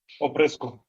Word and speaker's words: Oprescu: can you tell me your surname how to pronounce it just like 100% properly oesco oesco okay because I was B oesu from